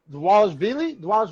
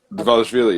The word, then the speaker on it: Dvalishvili: Oh goddamn, Dvalishvili, I think. Dvalishvili, yep. Yeah, I think it's kind of pronounced like a W, Dwalish kind of.